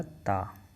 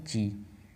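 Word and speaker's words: ち: अब ता के बाद आता है ची। अब आप सोच रहे होंगे कि ता के बाद ती क्यों नहीं आया, बट जैपनीज प्रोनाउंसिएशन में ती नहीं होता है, ची होता है।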